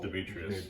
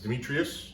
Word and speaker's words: Demetrios: Demetrios, yes. Demetrios? Demetrios.